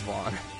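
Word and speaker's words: Vaan: He said, "No, that's pronounced Vaughn." He will always pronounce it as Vaughn.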